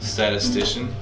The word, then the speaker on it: statistician: the statian is how do you say that statistician statistician did you hear about the statistician who